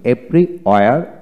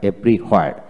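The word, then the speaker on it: everywhere: হ্যাঁ, এদের কিন্তু দুটি উচ্চারণ আছে, যেমন এভরিওয়্যার, এভরিহোয়ার। এভরিওয়্যার হচ্ছে ব্রিটিশ উচ্চারণ, এভরিহোয়ার হচ্ছে আমেরিকান উচ্চারণ।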